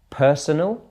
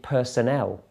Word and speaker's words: personal: on the words themselves did you get for the first one personal or did you say Personnel okay they would mean different things personal relating to yourself but Personnel is Staff